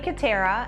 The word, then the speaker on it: Kutterer: So I'm Kutterer, and my last name kind of rhymes with doTERRA.